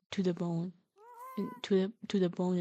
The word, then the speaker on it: Tudabone: Yeah, he has a pun as a name. It's he's Brad to the bone.